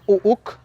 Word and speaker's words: Uk: Apellido número 5, Uk, Uk, Uk. Su pronunciación en la lengua maya sería Uuk, Uuk, Uuk, que significa número 7.